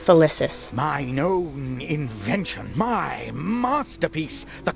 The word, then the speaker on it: Felicis: Oh, so I said it right, Felicis.